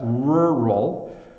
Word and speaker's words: rural: a barn um but rural rural uh is a tricky word to say because it's this r sound rural rural it it's kind of a funny R sound and and a little tricky to get uh uh your tongue around but hopefully you're hearing